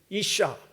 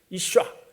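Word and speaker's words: אישה: 근데 여자는 이샤, 이샤, 뒤에 발음 좀 세게 샤, 이샤, 이쉬, 이샤 이렇게 좀 세게 얘기합니다.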